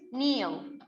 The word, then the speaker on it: kneel: Number 1, in Japan, people always kneel on the floor. انتبهوا طبعا هنا kneel الكي عندنا silence the K is not pronounced.